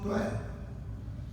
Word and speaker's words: त्वै: नवीन भी वो कहंदे इहदा उच्चारण 2 तरीकिਆਂ ਨਾਲ ਕੀਤਾ जाए। एक ਤਾਂ तब जदों असीं तब बोलने उदों वाहवा पूरा बोलिया जाता, पर असल च इहदा जिहड़ा उच्चारण है वो त्वै, ये वाहवा जिहड़ा है